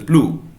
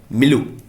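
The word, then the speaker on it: milieu: Legendary pianist Henry grow up इन a musical प्लू। कट, मैं दोबारा बोलता हूँ, मैंने क्या बोला, मैं यहाँ पर थोड़ा आई थिंक प्रोनाउंसिएशन गलत बोल दिए, मेरी बात ध्यान सुनिएगा।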